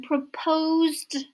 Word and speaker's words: proposed: we say the person proposed to you propose the s sounds like z so proposed also the verb close